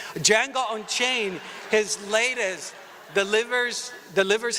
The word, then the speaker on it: Django: the junk John don't the D is silent dammit Django Unchained his latest delivers